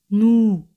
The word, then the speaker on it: nous: Nosotros es nous. Nous. Siempre ese al final no se pronuncia.